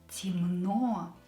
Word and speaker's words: Темно: Темно. E is not stressed, so pronounce it as E. And O is stressed here. Темно, so don't change it.